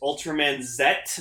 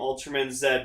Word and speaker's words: Ultraman Z: address i know it's technically the pronunciation is ultraman zet but i'm just going to call him ultraman zed because i'm canadian and that's how we say z we call we say zed yeah so i'm gonna